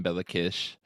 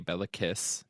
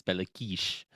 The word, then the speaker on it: Béla Kiss: on bakish that uh which is the technical pronunciation of his name but it's more funny in English to say belliss because that's a literal spelling so I'm going to say that but technically in Hungarian it's bakish um anyways there was